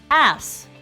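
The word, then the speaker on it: آس: whatever so in arabic that plant is called ass which yes i know how that sounds but i swear that's the right pronunciation so tushkul assi literally translates to may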